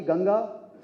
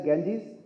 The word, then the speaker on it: Ganga: the origin of uh mighty ganga which is mispronounced by the Western as gangis which is which originates